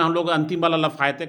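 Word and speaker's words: Lafayette: जैसे अमेरिका में कहा जाता है इसको लफायेट, अमेरिका में इसको बोला जाता है, हम लोग लफायते बोल रहे हैं, अमेरिका में इसको बोलता है लफायेट। और फ्रेंच में इसको बोलता है लाफजट।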